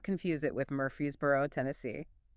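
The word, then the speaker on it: Murphysboro: The town is Murphy'sboro, Illinois. That's mur p h y sb o r o. And he was adamant. Adamant. Do not confuse it with Murphy'sboro, Tennessee.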